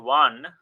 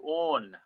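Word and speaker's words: -one: its own it's not one it's written as one but it's pronounced as own if you have a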